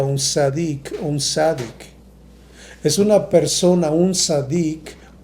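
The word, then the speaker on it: צדיק: Esa palabra justa en el hebreo se pronuncia un sadik.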